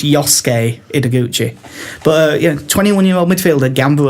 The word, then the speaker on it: Yosuke: I think it's Yosuke because the wrestler Shinsuke Nakamura is spelled S-U-K-E and it's Ske, not Suki.